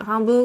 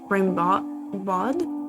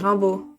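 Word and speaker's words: Rimbaud: Rambo than the English Rambot. Rimod. Yeah, we pronounce it Rambu. Basically, honestly, like a a good rule of thumb for French is that the last consonant is pretty much always silent.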